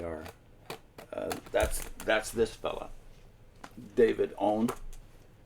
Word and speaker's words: Aune: that's this fella David owned it's spelled a-u-n-e but pronounced I believe own David own is a